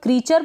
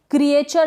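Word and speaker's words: creature: इसको हम क्रीचर पढ़ेंगे, क्रिएचर नहीं पढ़ेंगे। ये जो EA है ना, यहाँ पर EA का उच्चारण, जो प्रोनाउंसिएशन, वो है बड़ी ई के रूप में।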